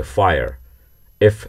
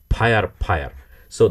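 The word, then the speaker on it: fire: ফায়ার এফ সেরকম একটি sound. ফায়ার ফায়ার। কিন্তু ভুল করে যখন বলবেন তখন শোনাবে ফায়ার ফায়ার। সো that's difference.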